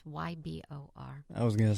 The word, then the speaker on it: Ybor: new year's eve parade in ebore city i think that's how you pronounce it it's ybor i was gonna say